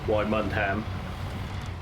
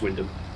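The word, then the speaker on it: Wymondham: Yeah, Wymundham, which it isn't, it's just Wyndham.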